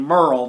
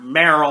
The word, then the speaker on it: Merle: walking dead and yeah that's actually how you pronounce his name merle not meryl or whatever and it's also the